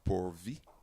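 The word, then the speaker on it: Poorv: is a pronounce a is a p o o r with a V so I think it's a poor V and he'll be facing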